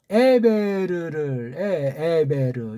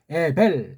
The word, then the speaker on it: 에베르: 아들 자 드디어 나오잖아요 에베르 이게 한글면 이게 에벨 에벨 그렇게 발음한 건 번역이 잘못됐고 베베르 그렇게 해야 가깝습니다 맞습니다 그 다음 25절에